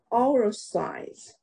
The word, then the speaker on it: authorize: authorize， also no， authorize， also rise，然后 authorize， authorize， that's right， authorize。好，然后名词是 authority。 Authority 在第二个音节，authority 没错，所以 authority 跟 authorize 是不一样的，一个名词，一个动词。